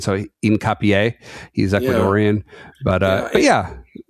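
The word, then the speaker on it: Hincapié: I mean with with my slightly better Spanish pronunciation dialect, I would say incapier. Yeah, I think that's H would be silent and there's an accent on the end. So incapier.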